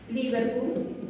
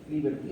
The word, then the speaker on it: Lieberkühn: Lieberkühn. Lieber, está bien. Ah, Lieberkühn. Lieber, como el lieber en inglés, Lieber, K-U-H-N.